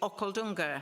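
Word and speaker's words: Okhaldhunga: asked to go to okaldunga that's how you say it okay sounds almost Scottish or Welsh doesn't it it's in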